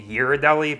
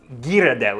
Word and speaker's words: Ghirardelli: if you've ever heard anyone say hirodelli but we're going to put the ghirardelli because apparently it's italian pronunciation we're gonna put this